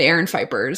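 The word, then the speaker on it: Aaron Phypers: That's how you pronounce her insane fucking husband, Aaron Fipers.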